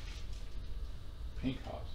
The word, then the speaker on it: פינחס: and what uh finney has did pink house pink hops okay what he did you a mind says